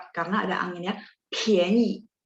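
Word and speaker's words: 便宜: ya 便宜 ya PH PH. Jadi kita tambahin H secara sadar. Oh ini bacanya PHIAN gitu ya. 便宜便宜.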